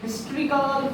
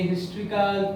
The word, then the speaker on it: historical: ওকে, like দেখো for example a historical place, a historical place, by a history book, it is pronounced as ha, Bengali ha, so like this is a, okay, a hotel, is that clear?